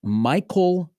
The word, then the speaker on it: Maikcol: I think it is Michael Perez is how you pronounce his first name. It's spelled Maikcol.